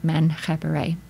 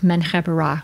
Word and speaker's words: Menkheperre: person of the dual king Menkheperre, or Menkhepera, if you prefer. As I've said before, there's no vowels, and we're interpreting what's actually an ein in re or ra there. So neither of those pronunciations is really how the Egyptians did it. They're just modern conventions.